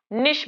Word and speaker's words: niche: तो अब इस एरिया को हम हैबिटाट नहीं बोलेंगे, अब इसको हम इसका क्या बोलेंगे, निश बोलेंगे। कुछ लोग नीके पढ़ते हैं, कुछ लोग निश पढ़ते हैं, वैसे निश ही इसका करेक्ट प्रोनाउंसिएशन है।